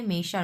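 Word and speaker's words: 没事儿: মেশার, মেইকোয়ানশি এটা মানেও ইটস ওকে মেইশার।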